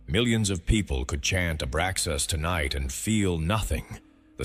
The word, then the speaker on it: Abraxas: The name is Abraxas. 7 letters, 3 syllables. 1 frequency, A, Bra, Zas, pronounced as 3 distinct tones moving through your body.